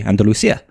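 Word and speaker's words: Andalucía: of is and then you have certain people from Andalucia that pronounce like a CI as a th Andia Andia um and some that don't and say Andalucia and it's very difficult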